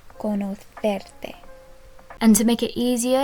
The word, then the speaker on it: conocerte: And just a note, if you want to pronounce it the way people from Spain do, it would be encantada de conocerte. This C here is a th sound, conocerte.